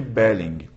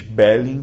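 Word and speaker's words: Beling: é matar alguém Bing e aqui você fala o g não é o gerúndio do inglês belling que termina em NG em alemão você pronuncia o g a final belling tá e belling dizia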